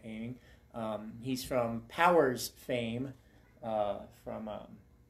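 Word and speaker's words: Oeming: I think he pronounced his last name Aiming.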